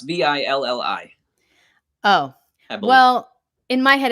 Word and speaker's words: villi: He said in a video, Matt, we have vila in our stomachs.